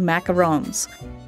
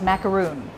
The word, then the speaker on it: macaron: it's just that uh you pronounce it not with a double o o in a long macaroon macaroon but you probably